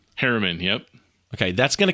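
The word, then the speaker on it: Herriman: And is it pronounced Harriman? Harriman, yep.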